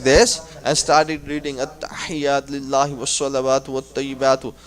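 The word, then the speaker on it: التحيات: So I'm gonna break it like at-tahiyyat. At-tahiyyat. Ha. There is a zir underneath ha.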